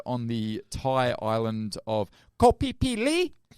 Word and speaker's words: Koh Phi Phi: It was filmed on the Thai island of Koh Phi Phi. That's how you say it.